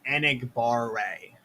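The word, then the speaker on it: Enagbare: you pronounce it ryan you're the king of pronunciation here it's kingsley anigbar-rae and igbaare i gotta remember that one so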